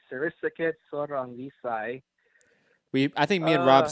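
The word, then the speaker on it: Sor Rungvisai: Sarisaket Sorangvisai.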